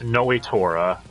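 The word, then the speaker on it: Nnoitra: site next we have noe torah as he's pronounced in the dub though oh my friends and i just nicknamed him nuetra because it sounds cooler the o is silent and i don't know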